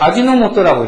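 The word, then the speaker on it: 味の素: 일본에 미소라는 데서 따왔어요 이것도 일본식으로 읽으면 모토라고 읽어요 그래서 아지노 모토라고 읽어요 근데 우리나라에서 이걸 갖고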